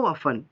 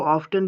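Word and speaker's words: often: कि हाउ ऑफन, ऑफन देखिए OFTN, आप इसको ऑफ्टन भी पढ़ सकते हो और ऑफन भी पढ़ सकते हैं। क्यों? यानी कि ऑक्सफोर्ड डिक्शनरी के अकॉर्डिंग ये दोनों जो प्रोनाउंसिएशन है वो दोनों करेक्ट है। ऑफन पढ़िए, ऑफ्टन तो बेटर रहता है।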